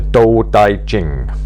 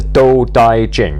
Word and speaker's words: Tao Te Ching: drinks down there uh the door daijin that's how I believe it to be pronounced although it's written with a t um in some translations